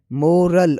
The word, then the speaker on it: morale: जैसे कि उर्दू साउंड देखा जाए तो पहले जो है मोरल और दूसरा है मोराल, मोराल। फ़र्क वॉवेल और एंडिंग साउंड में है, जो सुनते ही क्लियर लगता है।